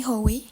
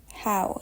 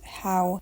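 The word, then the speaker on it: Howe: Not Philosophy by Fanny Hoey. So a little intermission for my future me. I just realized that her name is pronounced How and not Hoey, as I do here, and it's much more logical that way.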